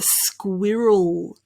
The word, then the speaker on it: squirrel: k there my apologies squi roll roll squish squee roll squirt roll square rule your turn got it squirrel squirrel you